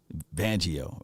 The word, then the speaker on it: Fangio: Fangio, right?